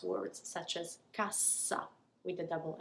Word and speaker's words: casa: Casa, that S is pronounced more like a Z. It's a single S, casa.